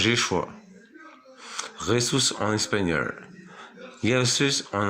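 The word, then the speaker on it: ישוע: En hébreu, ça se prononce Yeshua.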